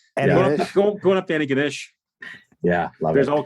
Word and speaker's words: Antigonish: I think I went Antigonish. So yeah, did I get that wrong? The locals just go Antigonish. Oh, love it. Antigonish. It's like all slurred together. Antigonish? Going up to Antigonish.